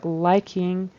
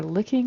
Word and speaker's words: liking: and then to her liking. It kind of sounded like either licking or leaking. To her leaking to her leaking licking, but it needs to be liking. It's a It's a long I liking.